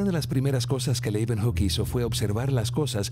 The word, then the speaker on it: Leeuwenhoek: Leuven se pronuncian con una B, hook, Leeuwenhoek. Anthony van Leeuwenhoek, he was a haberdasher.